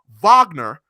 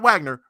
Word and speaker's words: Wagner: right now France and I was told my pronunciation of his last name was crazy oh Wagner not Wagner France Wagner um one of